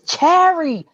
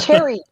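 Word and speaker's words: Charrie: of her time going no no it's Cherry Cherry not Cherry right yeah and that's that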